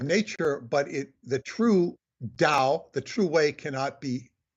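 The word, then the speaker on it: Tao: spelled t-a-o sometimes spelled d-a-o but it's pronounced Dao just like the Dow Jones but it's t-a-o and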